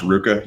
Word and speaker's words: RVCA: It's pronounced Ruka usually, but yeah, I don't care about any of that.